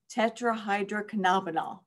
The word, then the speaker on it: tetrahydrocannabinol: saying these words, I gave you some phonetic pronunciations in there. So nobody says what THC is, but if you want to, it's tetrahydrocannabinol.